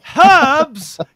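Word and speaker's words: herbs: you still don't know how to pronounce Erb so I can together it's Hubbs cuz it's got a frickin h in it damn you dyslexic morons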